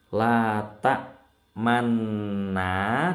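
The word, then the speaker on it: تَأْمَنَّا: Membacanya ismam itu tidak merubah tulisannya, tidak merubah harokatnya. Harokatnya manna, tapi di tengah-tengah kita ada mencucu sebentar.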